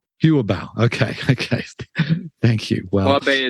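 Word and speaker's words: Yu'ebao: was of their money market account, which is pronounced Huabei. Is that right? Yuabao.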